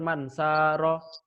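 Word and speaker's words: مَنْ سَارَ: Misalkan kalian baca mansaro. Itu salah. Yang benar mansaro, agak panjang.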